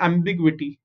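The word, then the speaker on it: ambiguity: एम इज एम, बी आई इज बी, जी यू आई इज ग्वी. Okay, ji यू आई is very weird and very funny. Ji यू आई इज ग्वी, ग्वी.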